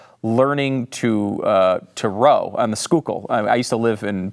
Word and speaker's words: Schuylkill: First of all, way to pronounce Schuylkill correctly. I can tell you from around here, because that word does not look like it's spelled or sound like it's spelled. Yeah, I decided when I